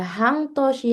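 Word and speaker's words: 半年: Dia kalau pasangannya Hang dibacanya Toshi tahunnya itu Hang Toshi.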